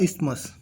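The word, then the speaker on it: isthmus: lagoon cap straight या इस्तमस इसमें T silent रहता है इस्तमस है ये जो एक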